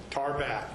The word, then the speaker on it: Tarbat: Tarbat. Tarbat. Spell it, please.